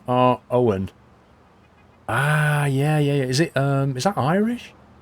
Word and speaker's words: Eogan: And name is pronounced R. Owen.